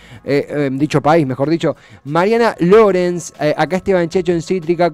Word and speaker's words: Lorenz: ¿Es Lorenz o Lorenz? Lorenz, perfecto. Alemán.